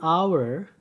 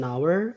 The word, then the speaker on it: hour: Terus ada huruf konsonan yang dibaca vokal. Itu an honor, an hour, an hotel. Ya. An honor, an hour, an hotel.